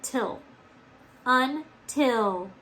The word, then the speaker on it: until: this word together until the accent is on the second syllable isn't it so we gotta get rid of it on this one and we gotta put the accent on the second syllable just like that so first syllable on